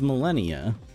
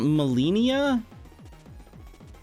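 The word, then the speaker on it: Malenia: It's Millennia. Is it It's not Mellennia.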